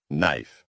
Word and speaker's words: knife: Silent K. One of my favorites. Silent K. Knife. Knife. Knife. Knee. Knee. Knee. Knock. Knock. Knock. Night. Night. Night. That K is just showing off.